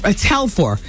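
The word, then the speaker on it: Telfair: And it's Telfer is how you pronounce his last name.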